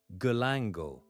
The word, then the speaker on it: galangal: Galangal pronounced galangal is the common name for several closely related